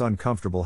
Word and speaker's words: uncomfortable: is in this case the accent is in the second syllable corresponding to conf low are other ways to pronounce it now let's see how uncomfortable is used in real